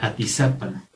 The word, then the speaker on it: Atizapán: Todos estos lugares que terminan en AN, realmente su acento, en toda la lengua náhuatl, la acentuación es grave en la penúltima sílaba.